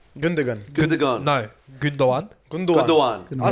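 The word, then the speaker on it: Gündoğan: How do you pronounce his name? Gundogan? Gundogan. Gundogan.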